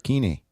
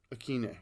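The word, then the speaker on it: Westbrook-Ikhine: I'm not sure how to pronounce the Oh, hyphenated- Nick Westbrook Akine. Akine.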